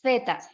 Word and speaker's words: zeta: y luego viene la zeta que se pronuncia como la zeta española zetas zeta es la